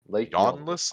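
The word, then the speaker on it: Ywnnlas: and W's and ends there's only one vowel in this entire word yawnless Lake I don't know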